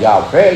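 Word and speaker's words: 야훼: 히브리 말로는 그 자음밖에 없어요. 모음이 없어요. 그래서 야회라는 얘기는 YH를 발음을 하니까 야회 이렇게 얘기를 합니다.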